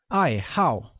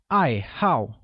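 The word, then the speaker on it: 爱好: what are your hobbies hobby translates as i hao which is pronounced with a falling tone on both a's once again it's i hau good note that the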